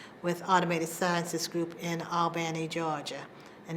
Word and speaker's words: Albany: Automated Sciences Group in Albany, Georgia. And notice I said Albany. That's how they pronounce it.